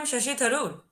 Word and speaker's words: Shashi Tharoor: Like you have heard about Shashi Tharoor. Yeah, you have heard about Shashi Tharoor. Like is his name like Arpit, is his name Shashi Tharoor? Yeah, like am I Yes, pronouncing it yes, right?